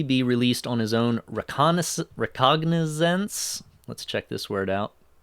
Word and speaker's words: recognizance: Recognizance rhymes with, or sounds like recognition, so maybe he doesn't have to pay a money bond.